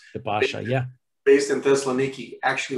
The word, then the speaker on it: Pasha: When did the Ottoman Pasha, is that the correct way to pronounce? The Pasha, yeah.